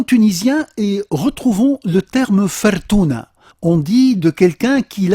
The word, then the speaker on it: fortuna: tunisien, sous la forme fortuna. Et donc, fortuna très proche de la prononciation italienne, assez proche de la prononciation française avec fortune, un mot